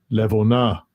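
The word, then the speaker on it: לבונה: Levona.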